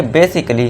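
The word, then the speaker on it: basically: तो इसे कैसे पढ़ेंगे, बेसिकली। क्यों? क्योंकि ए के बाद डबल एल वाई है तो यहाँ ए जो है ये साइलेंट हो जाएगा।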